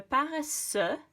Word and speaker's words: paresseux: So paresseux, you don't pronounce the X on the end. Paresseux.